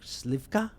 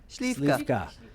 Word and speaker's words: Śliwka: And again, is my pronunciation correct? Slivka? Beautiful. Śliwka. Slivka.